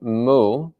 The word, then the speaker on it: mu: whereas the contemplation of mu which is the japanese pronunciation the chinese pronunciation is